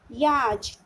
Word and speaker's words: yacht: In knife, K is, we are not pronouncing K, so K is silent. Yacht, T.